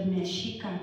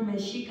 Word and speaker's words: Mexica: And so, if you look at the word Mexica, I wish we had a whiteboard here. The CH in the Spanish, in the Nahuatl is pronounced like Mexicano.